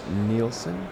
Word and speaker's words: Nielsen: Oh, and it was Kathy Nielsen? Mm-hmm. Is how pronounce that Nielsen.